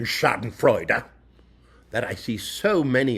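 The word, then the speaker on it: Schadenfreude: And yes, I do pronounce the fourth syllable in Shoden Fredera that I see so many of my wild fellow culture vultures and circling of their prey.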